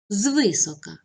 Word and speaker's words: звисока: на другому складі завчасно наголос на останньому складі звисока наголос на першому складі зозла наголос на першому складі